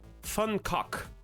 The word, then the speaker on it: Van: artists formerly known as Van Gogh who I have now learned is actually pronounced and this is true fun we will uh use some English and say van instead of fun what you heard me